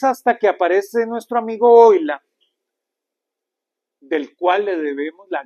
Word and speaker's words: Euler: Para los que nos están viendo por primera vez, así se pronuncia en alemán. Se pronuncia oila. En español diremos Euler, que nos permite hacer esto, producir ecuaciones diferenciales.